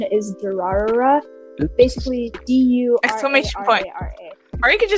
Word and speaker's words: Durarara: So for anybody who's listening and wants to search this up, the butchered pronunciation is Durarara.